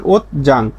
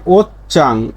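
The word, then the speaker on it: 옷장: ওত চাং, এর উচ্চারণটা কি ওত চাং, স্বাভাবিক উচ্চারণ ওত জাং, কিন্তু দেখেন ত ধ্বনির একটা উচ্চারণ পাইছি সাংসিউত নিচে বসলে ত, তারপরে জিউত পাইছি, তাহলে এই জিউতের উচ্চারণটা হয়ে যাবে সংযুক্ত ব্যঞ্জন বর্ণের মতো সাংজিগুত, তাহলে এর উচ্চারণটা চ, তাহলে উচ্চারণ হবে কি ওত চাং, ওত চাং।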